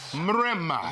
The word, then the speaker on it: Mrema: My man, Mrema. Yeah. Did I say it right? You did. You rolled that R.